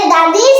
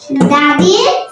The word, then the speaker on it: the: দা উচ্চারণ হবে দিবা বা দাদা কখন কি উচ্চারণ হবে তা মনে রাখার জন্য আমরা একটি সূত্র ব্যবহার করতে পারি সূত্রটি হচ্ছে দাদির সিবি তো সূত্রটি হলো দাদির সিবি সি মানে কনসোনেন্ট বি মানে ভাওয়েল যখন